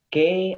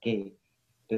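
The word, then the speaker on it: key: Jadi ya untuk pengucapan K itu bukan K, bukan Y, tapi I dipakai. Ki berarti.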